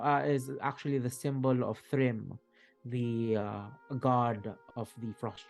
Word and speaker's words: Thrym: You remember that the this symbol is reminiscent is actually the symbol of Thrym, the god of the frost giants. How do you spell that?